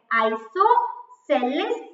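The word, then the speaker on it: isosceles: अभी ये आइसोसेलेस triangle क्या होता है, काफी सारे स्टूडेंट्स उसको बोल ही नहीं पाते, इसका प्रोनाउंसिएशन ही गलत करते हैं, आइसोसेलेस ट्रायंगल।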